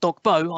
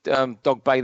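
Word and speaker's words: Dogboe: We learnt it's Dogbay, even though it's spelled Dogbo.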